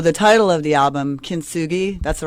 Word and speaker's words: Kintsugi: as well so the title of the album kin sui that's the right way to pronounce it that is correct yes and that